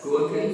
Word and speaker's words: Gorkha: Gorkhas. Nepal. That's how you pronounce it?